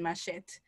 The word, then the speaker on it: machete: Somebody said online that their daughter pronounced the last E in machete, and they were shocked, wondering if the person is really Jamaican. And then I just said machete.